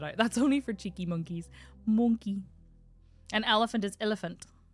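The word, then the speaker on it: moncaí: The Irish word for monkey is monkey. And it's so cute. It's spelled M-O-N-C-A-I. And the I has a fada on it. I think it's called fada. The accent.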